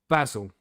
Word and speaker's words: basil: And don't forget that it's pronounced basil, everybody.